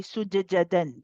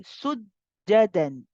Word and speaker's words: سجدا: So again, we do not do the qalqala in this case. We don't say sujjada. We don't say sujjadan. This would be incorrect. This time the qalqala is not needed. We say sujjadan. Sujjadan. So you join with the jim. You do not do the bouncing.